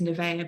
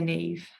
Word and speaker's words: Nevaeh: So that's why some people some people pronounce it as Nevaeh, but we pronounce it as Neve, just as a short abbreviated version, also for my daughter, so she could actually say our daughter's name.